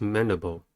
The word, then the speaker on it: mandible: The next word is mandible. Mandible has three syllables and the stress is at the first one.